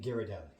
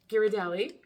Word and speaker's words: Ghirardelli: Ghirardelli. Ghirardelli.